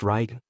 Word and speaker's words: Radian: This was Radian, pronounced Ryan, the Lightning Warlord.